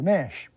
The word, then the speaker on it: Ganesh: For the gazillionth time, it's Ganesh with a silent G, so Nash.